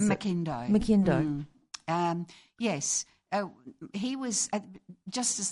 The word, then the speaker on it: McIndoe: So how do you pronounce it? McIndoe.